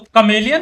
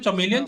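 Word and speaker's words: chameleon: A dominant start for PaperX, but C silent होता। they're still close enough to this. तो कमेलियन होगा। ये का साउंड आता है। What? भाई मैं तो पूरा स्कूल भर में मैं चमेलियन चमेलियन बोल रहा हूँ शायद, मुझे जहाँ तक याद है।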